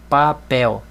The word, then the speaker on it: papel: Diretor sílaba tônica tor papel outra regra também ó terminou em L não tem acento a sílaba tônica é a última papel café não tem segredo